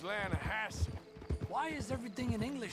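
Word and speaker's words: Lannahechee: The the Lanahhatche. It runs right near here. Yeah, but it's pronounced Lanahassi.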